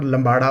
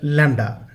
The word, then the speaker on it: lambda: Okay, the word is lambda, it's not lambada or something else, the word is lambda.